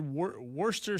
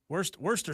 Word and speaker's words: Worcester: You said Worcester sour. Worcester sour. Worcester? Worcester sauce. I don't know. What idiot named Worcester, Massachusetts? Because it's Worcester, Massachusetts, but it's spelled Worcester.